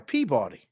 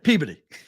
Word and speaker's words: Peabody: or Reason we'll like how would you say p-e-a-b-o-d-y p e a b o d y p body yeah Peabody Peabody Peabody there's a place called Peabody Mass oh yeah Peabody message oh yeah exactly place in a world that says Peabody Peabody correct I went I went